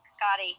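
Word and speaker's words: Skadi: I used to call her Skady, and I Googled it, and it's actually Scotty. So I've been saying it the wrong way. So Vintage was right. Vintage just said it right the whole time.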